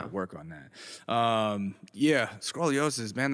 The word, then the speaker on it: scoliosis: Yeah, scoliosis, man. Is it scoliosis or scroliosis? I never know how to pronounce it. Scoliosis, bro. Scoliosis.